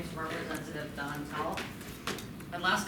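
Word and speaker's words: Dantal: Hi everyone, my name is Representative Don Tall. My last name is spelled D-A-N-T-A-L.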